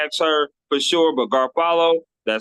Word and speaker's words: Garofalo: And I think you know my last name is Garfalo when you say it. The O is silent. Yes, which I had to say it a few times because I Okay, was good. going to say Garfalo because I was saying